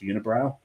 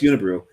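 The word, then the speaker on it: Unibroue: And I remember the first time I saw Unibrew, I thought it was a joke name, and it was pronounced Unibrow. But no, it's Unibrew.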